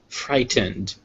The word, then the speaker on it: frightened: Wednesday next we have frightened F frightened frightened frighten you see always that a d is spelled with an e d but it's actually just pronounced like d frightened next we have